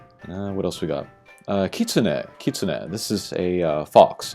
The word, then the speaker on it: kitsune: Like ki, like that's a unit. TSU is one unit, and then NE is another unit, so you say them kind of separately. Kitsune.